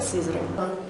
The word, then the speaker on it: Сызрань: Но в конце концов в результате получилось сначала Сызрань, а теперь уже более мягкое значение этого слова, вернее произношение этого слова – это Сызрань.